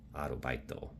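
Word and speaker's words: アルバイト: But in Japanese, they took Arbeit and made it Arobaito.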